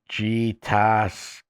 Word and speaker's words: Gatskog: The Abenakis referred to this creature as Gatskog, pronounced G-ta-skog, a moving great serpent or big serpent.